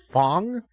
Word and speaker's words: Fang: character from Street Fighter named Fong. Or Fang, if you want to say it like that. But Fang was also a poison type character.